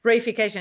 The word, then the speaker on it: reification: Reification? No, I think you said it right. Oh, I mean, in English. I was paying attention. Reification, it comes from Latin res, which means thing or object.